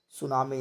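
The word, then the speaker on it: tsunami: सुनामी शब्द जो है टी से स्टार्ट होता है, TSUNMI, सुनामी, यानी टी साइलेंट है।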